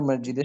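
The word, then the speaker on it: مسجدِ: বাশিরের বন্ধু কোথায় বাশিন মসজিদে বাশিরের বন্ধু মসজিদের সামনে আছে মসজিদি সে মসজিদের মাসজিদি না উচ্চারণটা হচ্ছে মাসজিদি হ্যাঁ আমমাল মাসজিদি আমাল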